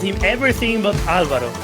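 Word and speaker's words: Álvaro: They called him everything but Alvaro. They called him Alvario. They had Alvaro, Alvaro. Because the R is really difficult for a lot of English speakers.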